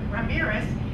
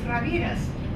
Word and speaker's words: Ramirez: But then the American version is Ramirez. But if you want to do the Spanish version, then it comes out quite differently. It's Ramirez.